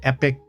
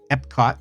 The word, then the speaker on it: Epcot: Epic Epcot. Sorry. Wow. That was a rookie pronunciation mistake.